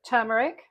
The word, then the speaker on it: turmeric: I'm also going to put in half a teaspoon of turmeric. It's turmeric, by the way, not turmeric. It's one of my pet hates when people mispronounce turmeric.